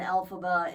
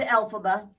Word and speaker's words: Elphaba: Glinda and Elphaba in the Broadway Elphaba, that's how you say it, production.